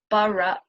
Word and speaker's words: borough: So if you live in London, in Finchley, you live in the borough of Barnet.